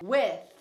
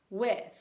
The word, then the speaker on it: with: Aqui a proposição que eu tô te ensinando, pronúncia é with. with. Come with me. Ou então, please stay with us. Vai juntar esse TH com a próxima palavra, ó. With us. With me.